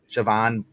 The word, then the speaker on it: Siobhan: You get a cute moment from Jimmy in Sibian, or how to pronounce her name? Siobhan.